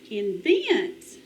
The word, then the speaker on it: invent: Next one. Invent. Invent. The accent is on the second syllable.